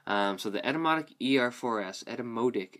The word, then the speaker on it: Etymotic: Um, so the Edetomotic ER4S, Edomodic as they pronounce it, I believe.